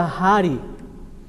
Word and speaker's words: hari: seria dessa maneira então equivale a essa aspiração tendo como exemplo do r a palavra Hari sabe o que significa